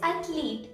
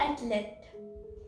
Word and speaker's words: athlete: as jiff foreign now the current word is athlete and not at least i have heard a number of people say it does at least and that's wrong now the next word